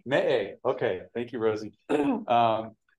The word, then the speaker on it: Meʻe: And help me, how do you pronounce the acronym there? Me'e. Me'e, okay, thank you, Rosie.